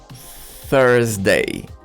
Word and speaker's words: Thursday: So we have to use our tongue, remember? Tongue between our teeth. Thursday. Thursday.